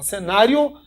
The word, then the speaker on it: cenário: existe um ditongo é porque se você fala cenário Way e o o são pronunciados e lógico que uma é mais forte que a outra nesse cenário Você tem uma paroxítona terminada em ditongo tá vendo assim uma